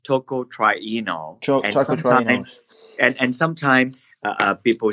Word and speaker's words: tocotrienol: trip try knows less about flopper wood is pronounced tocotrienol chocolates and and sometime people said that you